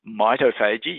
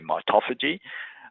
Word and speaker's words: mitophagy: stimulates a process called what I say it pronounced as mitophagy you might say mitophagy um and that's the